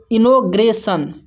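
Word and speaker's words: inauguration: यहां पर देखिए आई को इ पढ़ते हैं और एन ए यू को जो है नौ पढ़ते हैं। जी यू आर ए को ग्रे पढ़ते हैं। टी आई ओ एन को सन पढ़ते हैं।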